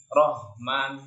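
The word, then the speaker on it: الرحمن: Lanjut ke huruf selanjutnya, huruf H, ya. Huruf H di mana makhrajnya dia di tengah tenggorokan. Pernah sudah saya bahas juga di ayat yang kedua tadi, ada alhamdu, ya, sama. Itu makhrajnya di tengah tenggorokan tadi. Kalau masih belum ketemu, biasanya sering tertukar dengan huruf H. Ar-Rahman, Rahman.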